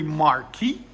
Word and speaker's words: Marquis: one is it Marquis 2001 Mercury Marquee as my boy Tim says that that's how it's supposed to be pronounced so Illinois okay whatever